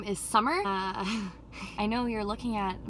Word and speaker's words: Sammar: And then they decided to name me Sammar, but spell it S-A-M-M-A-R.